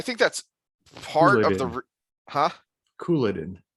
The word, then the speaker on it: Couladin: And I think that's part of the, Couladin. Couladin. Emphasis on coup.